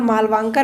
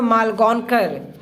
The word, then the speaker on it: Malgonkar: कल मुझे प्रोनाउंसिएशन में थोड़ी प्रॉब्लम हो गया था, वहाँ पर मनोहर मालवांकर मैं पढ़ रहा था, लेकिन इसका जो प्रोनाउंसिएशन होता है मनोहर मालगोनकर।